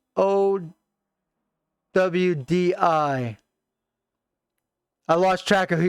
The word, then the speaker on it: Audi: It's pronounced OWDI. I lost track of who you're talking about. I'm sorry. Oh, Audi.